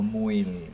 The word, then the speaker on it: mouille: Okay, so mouille. M-O-U-I-L-L-E is silent. So mouille.